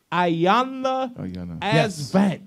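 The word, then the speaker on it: Iyanla Vanzant: Ayanna Asvant. Yes. Here we go. Fix my life. Fanzant.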